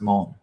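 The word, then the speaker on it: Mahón: meet his auntie in Mon, M-A-H-O-N. It's pronounced Mon.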